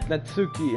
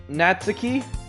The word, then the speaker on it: Natsuki: So, apparently, I was pronouncing her name wrong. I think her name is Natsuki. I think that's how you pronounce it. Not Natsuki. But I was saying Natsuki the whole time, but I'm pretty sure it's Natsuki. So that's just for your information.